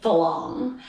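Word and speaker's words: farang: people who aren't thai it's actually spelled f-e-r-a-n-g but because thai people can't sometimes can't pronounce us they call it they make it into an l and they say for long so some for long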